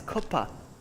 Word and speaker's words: cuppa: It's not kappa, it's kuppa.